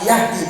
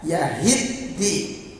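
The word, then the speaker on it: يَهِدِّي: Jadi langsung dibaca apa yahdi, padahal bacanya yahidi. Apa bedanya antara yahdi dan yahidi? Yahdi itu memberi petunjuk, kalau yahidi mendapat petunjuk.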